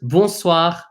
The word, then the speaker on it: bonsoir: This on here is pronounced un.